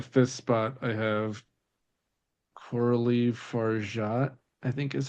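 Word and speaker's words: Fargeat: close yeah we'll take there's no pronunciation on the T but otherwise you the Golden Globes gave her a hard G yeah uh yeah and that is totally incorrect it was horrifying far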